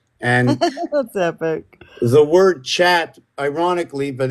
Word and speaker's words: chat: cat in French no it's chat CH h a t except it's not pronounced that way it's sh it's that's right it's sh and Sh but when